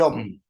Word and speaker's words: Om: Pero dentro de las reglas gramaticales, la A y la U se convierten en O.